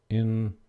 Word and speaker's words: interested: And I'm interested, or I usually say interested. I say it almost like it's spelled this way, interested. Sort of leave that sound out.